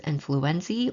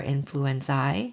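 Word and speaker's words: influenzae: For homophus influenza or influenzi, so whenever you see this suffix, you can pronounce it with a hard e or i sound.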